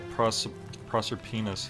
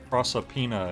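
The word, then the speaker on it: Proserpina: what did you mean when you said uh proser penis I mean you see in my search for a way serpenter the goddess of the cycle a serpenter prosopina is the correct pronunciation is through it and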